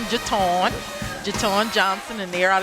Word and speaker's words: Jaton: Yes, that's them under Miss Jaton Johnson. She told me how to pronounce her name like Baton Jaton.